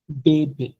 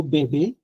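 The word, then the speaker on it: bébé: যখন অ্যাকশন এগু দেখবেন তখন এটা সাউন্ড হয়ে যাবে এ, নট উ, ইটস এ। বাংলাতে একার এ। সে লো বেবে, লো কাফে, মুজে, একুতে, লো বেবে, লো কাফে, মুজে, একুতে। এখানে কিন্তু অকুতেও হয় নাই, মুজো হয় নাই, কাফো হয় নাই, লোবোবো হয় নাই।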